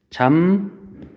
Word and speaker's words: 잡목: 얘 같은 경우에 발음이 어떻게 돼요? 잠목 이렇게 발음이 되죠. 그래서 비읍이 미음으로 바뀌었죠. 뭐 때문에? 뒤에 있는 미음 때문에.